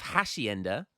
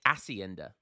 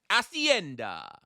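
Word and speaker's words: hacienda: of videos ago um I don't pronounce the h so instead of Hashi Ender I say asenda asenda so yeah thanks to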